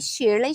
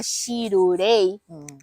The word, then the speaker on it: Shirley: Então fica Shirurei. Fica uma pronúncia meio esquisita, né?